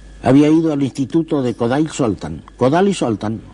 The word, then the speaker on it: Kodály Zoltán: Yo había estado en Hungría, en Budapest, había ido al instituto de Kodály Zoltán, o como dicen los húngaros que pronuncian primero el apellido, Zoltán Kodály, era el maestro de Béla Bartók.